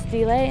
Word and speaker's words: STILE: We're here to present STILE, which is pronounced STILE in Italian.